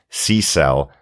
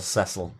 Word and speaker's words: Cecil: drunk parent and still can't cope with C-cell as the mispronunciation of Cecil. Very good, Dr. Absolutely. Finally, seashells on the seashore, Cecil.